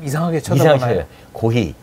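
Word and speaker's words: コーヒー: 고히. 네. 고히.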